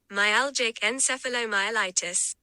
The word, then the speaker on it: myalgic encephalomyelitis: ME pronunciation. Just for you guys here. Myalgic encephalomyelitis. Oh, say that 5 times fast. I can't. But here we go. Myalgic encephalomyelitis.